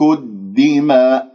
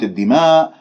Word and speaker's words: الدماء: الدماء، لا تقول الدماء خطأ، هذه إمالة، اجعل كل شيء طبيعي، اللسان مرتاح، ما تبتسم بالشفاء، الدماء ونحن، هذه الحاء